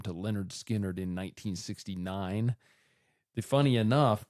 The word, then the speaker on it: Lynyrd Skynyrd: They released their first album, which was called Pronounced Leh-nerd Skin-nerd.